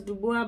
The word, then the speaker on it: Dubois: I know it's pronounced as Dubois, but I got no time and energy for that. I'm used to Dubois.